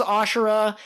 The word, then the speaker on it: Asura: He summons 3 extra heads and 4 extra arms, and he calls it Asura. Sorry, the fact that it's not spelled with an H always throws me off, but he summons Asura, and he uses the 9-sword style to deliver a blow that defeats Kaku.